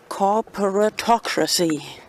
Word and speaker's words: corporatocracy: Anyway, do you know this hashtag which rhymes with democracy? Corporatocracy.